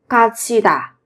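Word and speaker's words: 갇히다: nhỉ nhà tù 감옥의 가치다 các bạn chú ý về cái phát âm là thành 가치다 bị nhốt vào trại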